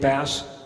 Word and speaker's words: Bass: him before have you am I pronouncing it correctly it's fast right it's not base right Dave bass had that right he's here